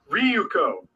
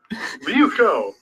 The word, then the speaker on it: Ryuko: It sounds exactly how it's spelt. You're terrible. It's Ryuko. Ryuko.